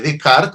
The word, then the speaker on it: Descartes: la derecha tenemos a René de Card o Descartes como lo pronunciamos con frecuencia el gran